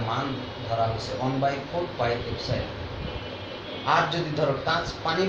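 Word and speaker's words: epsilon: এটা উচ্চারণ হলো এপসাইলন।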